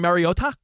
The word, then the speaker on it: Mariota: Do you mean Mariota? The emphasis on the tea, the hard tea all of a sudden had the world thrown for a loop last night.